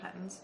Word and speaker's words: Patons: something like that, and it's more of a Peyton's. Is that how you pronounce it? Patons. Peyton's, yeah.